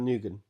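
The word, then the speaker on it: Nguyen: So, a California man bought Hung did you notice that I didn't pronounce his name? Hung Nugan. Yeah, Nugan.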